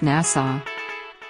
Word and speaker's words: Nassau: Nassau is pronounced Nassau Nassau is the capital of the Bahamas it